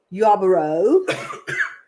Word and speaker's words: Yarborough: gonna come in through yabra Yarborough that's the proper way to say it Rachel yeah bro yeah